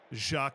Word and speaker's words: Jacques: Jacques pronounced without the S. Got it. Jacques Secomier.